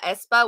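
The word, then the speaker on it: aespa: level like i felt like i'm talking about espa which is spelled a-e-s-p-a that girl group with the four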